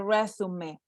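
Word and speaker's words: résumé: not refume it's a resume take a look at the accentuation mark that tells you that that's not an english word it actually comes from french and it means a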